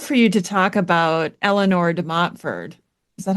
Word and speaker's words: Eleanor de Montfort: I would love for you to talk about Eleanor de Montfort. Is that how you say her name? I don't know how to say any of these names. Yes. No, Eleanor de Montfort.